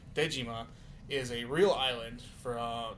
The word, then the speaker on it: Dejima: Um, but also the Japanese pronunciation, which would be Dejima, is a real island from that has ties to both Japanese and Dutch history and Gorilla Games is Dutch.